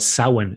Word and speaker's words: Samhain: basically what halloween is uh it's what's called samhain s-a-m-h-i-n and samhain is the one to november